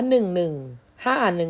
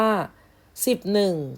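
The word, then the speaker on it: สิบเอ็ด: ให้ คุณ ครู ฟัง ไม่ อ่าน ให้ คุณ ครู ฟัง ว่า 1151 หนึ่ง คือ ผิด นะ หรือ อ่าน ว่า สิบ หนึ่ง ก็ ผิด นะ คะ ที่ ถูก ต้อง ต้อง อ่าน ว่า 11 นะ คะ 11 อ่ะ คัด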